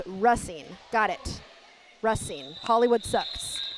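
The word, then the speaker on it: Racine: It's Russine, not racing. Wait, but I love Yeah, Russine. Russine, but I love A League of Their Own and I always thought it was racing.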